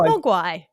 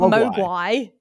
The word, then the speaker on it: Mogwai: It's pronounced Mogwai, not Mogwai.